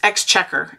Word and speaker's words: exchequer: It's pronounced exchequer. Exchequer. I have trouble with that word, exchequer. Because I always want to put more syllables in it. And I can't.